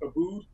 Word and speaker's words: Aboud: my first name uh it's a b o u d it's pronounced abood so you could just